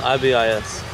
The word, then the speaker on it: ibis: called i was wondering what they were it's pronounced ibis oh what oh you're so mean i'm just